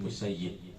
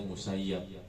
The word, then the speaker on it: Musayyib: di majelisnya sa bin musayyib kalau orang Madinah bacanya musayyib kalau orang Baghdad bacanya musayab sedangkan dia sendiri enggak suka dipanggil dengan musayab senangnya musayibq aaman maka